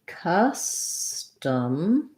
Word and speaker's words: custom: is actually held long in custom we have two schwas so you're going to see custum or you may see no no schwa written there but basically both of these sounds sound like uh this one is long